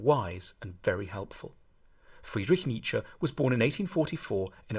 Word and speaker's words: Nietzsche: to pronounce his name the first bit should sound like me the second like cha Nietzsche then we need to